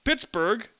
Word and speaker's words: Pittsburgh: among the locals that it's pronounced Pittsburgh in the Germanic fashion but it's spelled in the British fashion but there were other